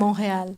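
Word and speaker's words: Montréal: é Montreal, como é que como é que pronuncia? Montreal. Como é que é? Monreal.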